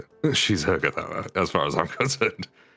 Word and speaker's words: Urgathoa: used to it did it's like eroa is actually pronounced urgathoa really that she's Ura as far as I'm